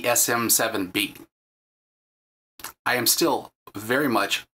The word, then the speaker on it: SM7B: said the name wrong it's not the smb7 it's the sm7b I am still very